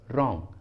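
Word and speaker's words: wrong: जब भी किसी इंग्लिश वर्ड में डब्लू एकदम सामने में होता है और आर के पहले होता है तो डब्लू साइलेंट होता है। फॉर एग्जाम्पल रॉन्ग, रॉन्ग, देखिए इस इंग्लिश वर्ड में डब्लू एकदम सामने में है और आर के पहले है, इसलिए यहाँ पर डब्लू साइलेंट है और इसका सही उच्चारण होगा रॉन्ग, रॉन्ग।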